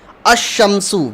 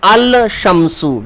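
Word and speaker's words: الشمس: Like huruf shamsi, ash-shamsu, we are saying ash-shamsu. We are directly adding tashdeed on sheen and we are not pronouncing lam here. We are not saying al-shamsu, we are saying ash-shamsu.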